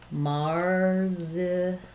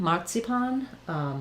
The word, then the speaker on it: marzipan: And then for marzipan, in American English, we tend to say that as marzipan, with the AR saying the R, first syllable stress, the Z saying a Z, pan, the last A saying the A, black cat vowel.